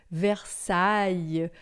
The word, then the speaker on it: Versailles: Quando o L puxar o I para lá, ele se separa do A e aí a gente pronuncia separadamente.